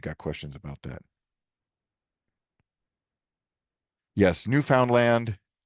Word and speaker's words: Newfoundland: Yes, new found land rhymes with understand.